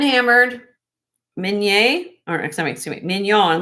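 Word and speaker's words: Mignon: Hand hammered min or excuse me, minion. Like filet minion.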